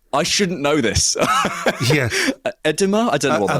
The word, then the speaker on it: edema: Edema? I don't know what I think is. It's pronounced edema.